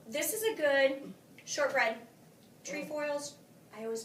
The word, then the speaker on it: Trefoils: is a good shortbread trefoils I always mispronounce it so if you're out there please don't slam me if I mispronounce it but trefoils it's not truffles it's true foil it has to be